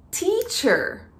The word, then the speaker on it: teacher: Então, quando nós falamos teacher, eu aspiro o T.